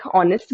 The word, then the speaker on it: honest: students Alice is blank honest girl which article should I use in this question students first girl all right students just like honorable right in honest we do not pronounce this